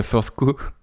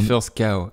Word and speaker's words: First Cow: On dit pas First Co, on dit First Cow. First Cow, d'accord. Donc dans First Cow, je voudrais un peu revenir sur la citation qui ouvre First Cow, qui est donc un